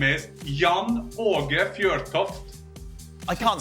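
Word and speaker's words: Jan Åge Fjørtoft: I got two letters that nowhere to be found around the world. So my normal name is Jan Aage Fjortoft.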